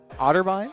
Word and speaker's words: Otterbein: smash team competing tonight I believe versus otter otterbine that's how you pronounce it yes yeah the academy team has